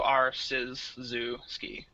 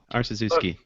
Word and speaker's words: Arciszewski: The way I always told people to remember it, like, I guess to say mnemonically, would be like art, scissors, zoo, and skiing. So Arciszewski. Arciszewski. Because I had such a